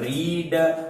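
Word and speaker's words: read: अब पढ़ना मतलब रीड, रेड रेड, लेकिन जो रेड होता है रेड का प्रयोग हम मतलब कि उच्चारण में प्रोनाउंसिएशन के दौरान हम रीड को रेड पढ़ते हैं लेकिन स्पेलिंग उसकी सेम होती है।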